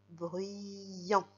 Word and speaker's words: bruyant: Et enfin, le mot en dessous, c'est la première syllabe B, R, U, ça ferait bru, et avec le Y, bruit, bruit. Et il tend son bras pour faire le son I, bruyant.